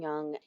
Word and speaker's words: yang: The way it's pronounced rhymes with tongue.